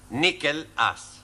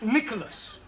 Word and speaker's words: Nicholas: Once upon a time, there was a man called Nickel Ass. That's not quite right. No? No. Once upon a time, there was a woman called Nickel Ass. It's pronounced Nicholas.